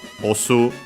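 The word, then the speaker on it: オス: The opposite is osu, also accent on the last syllable, mora.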